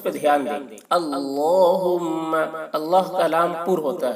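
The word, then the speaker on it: اللهم: وقت پڑھے، اللہم بک امسینا، اور دعا کی تلفظ پہ دھیان دیں، اللہم، اللہ کا لام پر ہوتا ہے، اللہم بک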